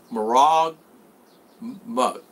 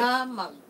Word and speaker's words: Maramag: I'm in Marag Mug. I've been saying it wrong. Everybody's telling me I'm saying Maramag. Maramag.